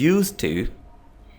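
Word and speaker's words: used to: शी इज़ यूज टू getting up early in the morning. जब आप इसे इकट्ठा प्रोनाउंस करते हैं सेंटेंस में तो ये डी गायब हो जाता है, ठीक है, बोलते हुए।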